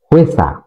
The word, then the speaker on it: 회사: কখনো এটা কোরিয়ানরা ও ইসা বলে না, হোয়েসা। হোয়েসা একসাথে উচ্চারণ হবে হোয়েসা, অর্থাৎ কোম্পানি।